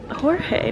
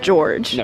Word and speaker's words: Jorge: it's spelled Castello de I just feel like it's Jorge no yeah it should it's not George surely I don't know